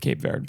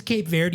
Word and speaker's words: Cape Verde: There's about 40 different pronunciations. We're going with Cape Verde.